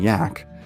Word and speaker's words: Jack: begrudgingly respectful nicknames of Captain Jack pronounced Captain yak and Bravo too much